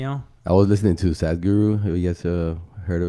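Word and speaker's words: Sadhguru: I was listening to sadguru who gets a heard of him or sadly yeah I think that's the way you say his name it spelled s ADH and then guru Oh probably I mean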